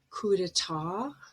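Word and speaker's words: coup d'état: But a T at the very end is usually silent, and we have borrowed the word with sort of French pronunciation with the stress at the end. For example, ballet, chalet, gourmet, coup d'etat, debut, and rapport.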